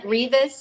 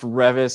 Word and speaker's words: Reavis: going to say it grievous am i saying it right though i feel like i'm not um it's close enough it's pronounced revis because it's scottish and weird but it sure looks like grievous okay i'm sure i